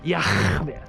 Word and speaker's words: Yah: His name is Yah. That's how you pronounce it.